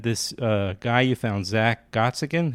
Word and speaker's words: Gottsagen: And then this guy you found, Zack Gottsagen. How do you pronounce his name? Gottsagen, but yeah, Zack Gottsagen. Gottsagen.